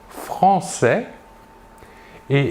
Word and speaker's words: française: l'adjectif de nationalité sera français et la job au masculin est l'adjectif de nationalité au féminin sera française nous voyons ici la différence de prononciation nous prononçons le s final et nous ajoutons à